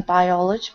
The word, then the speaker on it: biology: for example, this one we're pronouncing each vowel separately, biology. So the emphasis falls on the second syllable, the A, biology.